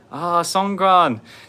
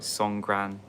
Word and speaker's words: Songkran: Every time Songkran's on, they say, by the way, K over here is pronounced with a G, so it's like Songkran, not Songkran.